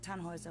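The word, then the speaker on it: Tannhauser: why what's your name tanhauser we'd pronounce it tan hoiser with an umlaut german roots yes my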